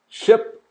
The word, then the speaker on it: ship: I, E. I, E. Ship, sheep. Ship, sheep. Just listen very carefully to that.